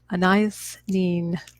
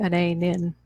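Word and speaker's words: Anaïs Nin: Now, you better believe I looked up how to pronounce that. Anais Nin. Anyway, I think I used to always just say Anais Nin.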